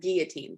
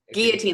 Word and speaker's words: guillotine: And that word is pronounced guillotine, by the way, just so you know. Guillotine, like it's French for chopping off your head.